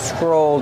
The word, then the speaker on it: scroll: Kevin, how do you pronounce scroll? Scroll. That's the verb. Scroll up. Scroll down. They're phrasal verbs. Use the long O like old and cold.